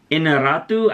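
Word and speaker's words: Iñárritu: I think his last name is pronounced Inarritu. I butcher his last name all the time, but he's the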